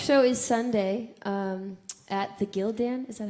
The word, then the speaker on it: Gildan: My next show is Sunday at the Gildan. Is that how you say it? Yeah. Gildan Broadway stage down at the Hard Rock Cafe.